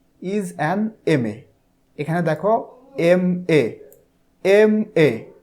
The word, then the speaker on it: MA: দেখো এখানে উদাহরণে বলা হচ্ছে হি অর শি ইজ অ্যান MA, এখানে দেখো MA, MA উচ্চারণটা MA, প্রথমে আসতেছে এম, তাহলে শুরুতে আসতেছে